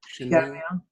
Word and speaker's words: Chamuel: Is Samuel or Camille is the third. Or something like that, yes. Camille, how do you spell it? Chamuel. Shemiel.